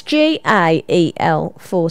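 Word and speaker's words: Gaelforce: not spelled English right it's not guile as in the wind it's gal4 stunts and it's on Wednesday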